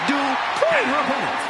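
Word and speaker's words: Maxine Dupri: Uh, Michael, it's pronounced Drippon from Phoenix, Arizona.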